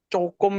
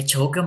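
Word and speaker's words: 조금: yang jogem itu emang bacanya gitu apa biasanya orang-orang Indonesia itu malah cokum itu gimana, Sam, yang benar? Ya jogem bacanya, ya kalian aja yang zong bacanya. Jogem itu bacanya.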